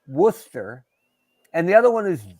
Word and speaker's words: Worcester: do you actually say is it wor sure werer worsters sure no R just Worcester werer yeah all right